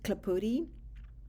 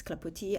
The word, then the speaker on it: Clapoti: I took off the S because you don't pronounce it in French. Um so, that's why it's Clapotis.